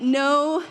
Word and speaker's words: know: had to get creative it's a silent K so it counts for an end but know yourself you got to